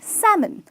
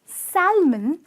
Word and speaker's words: salmon: and until over here L is silence which means the pronunciation is that men ok salmon salmon is a fish it's a delicacy enjoyed by many and hear the pronunciation is salmon and not Salman as like a lot of people end up saying it that way but it's absolutely it's not correct moving on ok now